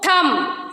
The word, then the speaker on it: thumb: B is silent when it is after M. Okay.